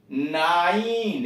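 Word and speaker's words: nine: नाइन, यन आई यानी नाइन, अब आई को थोड़ा लंबा खींच के उच्चारण कर, नाइन, 9।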